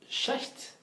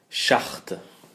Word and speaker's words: Schacht: la pensée de Joseph Schacht. Alors, j'ai jamais su comment prononcer son nom. Ouais. Donc, je vais utiliser la prononciation que j'ai entendue chez les chercheurs américains. Schacht.